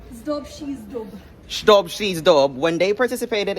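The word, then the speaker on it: Zdob și Zdub: How do you say it again, Rosie? Zdob Shizdub.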